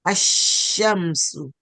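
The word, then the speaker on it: الشمس: We do not pronounce the lam, and we pronounce the shin with the shadda. All right? So we say ashamsu.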